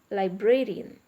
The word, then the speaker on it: librarian: are uh stressing s librarian like brain korean okay li bray re n four syllables so ah the stress is on br okay same with comedian